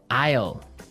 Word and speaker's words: aisle: It sounds like the contraction of I will. Yeah, but it's spelled so strangely. Right. We don't pronounce the S. The S is silent.